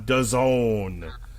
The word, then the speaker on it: DAZN: versus Solomon on DAZN, which, as we like to remind people, rhymes with calzone.